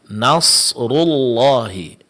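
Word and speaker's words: نَصْرُ اللَّهِ: Nasrullahi. Nasrullahi perlu diperhatikan di sini yang ditebalkan di sini ada huruf shad dan huruf ra setelahnya karena huruf rnya berbaris depan.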